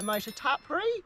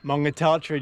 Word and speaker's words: Motutapere: and we're going to head off on the north-south, go via Motutapere, Cool. and then come down the Eliza Mine Track. Motutapere, do you like the way she said that? Motutapere.